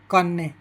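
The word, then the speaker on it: cane: तो सी ए एन ई, इसका उच्चारण हो जाएगा कान्ने।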